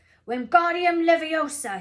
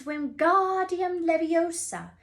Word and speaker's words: Wingardium Leviosa: Wingardium Leviosa, he shouted, waving his long arms like a windmill. You're saying it wrong, Harry heard Hermione snap. It's Wingardium Leviosa. Make the God nice and long.